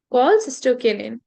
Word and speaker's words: cholecystokinin: Okay, it will be cholecystokinin, or yes, this will be the correct pronunciation, cholecystokinin.